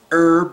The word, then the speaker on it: herb: take a special medicinal herb or herbal or however you want to say it there's an H in there so I don't know why it's not pronounced with an H but anyway let's go